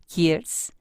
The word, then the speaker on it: Kiersz: Bueno, le doy la bienvenida a Juliana Hers, así lo pronuncio bien tu apellido, Juliana. Sí, perfecto. Muchas gracias.